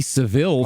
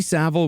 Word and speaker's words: Savile: was so small that we didn't even know how to properly pronounce his name in America when his crimes came to light, we called him Jimmy Seville for years. Oh yeah. Jimmy Savile was an institution unto